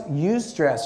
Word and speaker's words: eustress: Sounded to me a little bit like use stress.